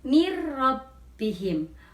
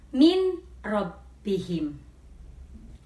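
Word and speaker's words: من ربهم: bertemu dengan huruf rok maka dibacanya dan mati lebur atau masuk ke dalam huruf Arab menjadi mirrobbihim bukan Nin robbihim Hai contoh berikutnya hudallilmuttaqin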